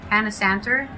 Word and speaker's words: Panasantor: Panasantor, like janitor, Panasantor, used to play a happy hunting grounds, but you didn't hear that from me.